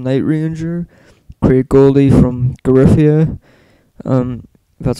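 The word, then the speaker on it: Giuffria: Brad Gillis from Night Ranger, Craig Goldie from Garifia, that's how you say it, Chris Harger from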